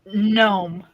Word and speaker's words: gnome: Gnome. Gnome. Oh, gnome. Gnome. Just forget the G.